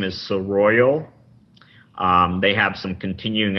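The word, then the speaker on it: Seroyal: you go to uh the company's name is sir royal um they have some continuing education courses how do you spell that it's s-e-r-o-y-a-l okay cool i'll put a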